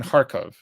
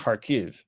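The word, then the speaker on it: Kharkiv: was a resistance in harkov okay now it's pronounced harv because it is Ukrainian uh but there's a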